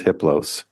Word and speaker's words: Hiplos: His name is Hiplos. The H is silent.